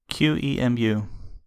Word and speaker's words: QEMU: gonna botch this but i usually call it q emu but some people call